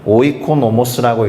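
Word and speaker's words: οἰκονόμος: 그리스어 단어는 이렇게 생겼고요 발음은 오이코노모스라고 있습니다 오이코노모스 그리고이 단어는 말씀드린 바와 같이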